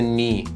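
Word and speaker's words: knee: برای حرف زی هست حرف ک قبل از حرف ان سایلنت میشه و تلفظ نمیشه مثل نی نایت نو حرف اچ حرفیه که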